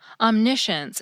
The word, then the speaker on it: omniscience: Every now and then, some of them kept their C's, but also sound like SH words now. Omniscience and prescience.